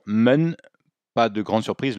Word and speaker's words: 们: Bon, déjà au niveau de la prononciation, men, pas de grande surprise, le E se prononce comme un E, hein, on dit pas man, on dit en.